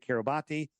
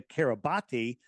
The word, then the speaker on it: Kiribati: And do a little research into Kiribati. Now look at that's not how it's pronounced, but that's how it's spelled. Kiribati with a T. B and a T, right?